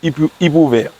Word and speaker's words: Ipuwer: I-P-U-W-E-R. On le prononce Ipouver. Yeah. Ipouver, c'est qui?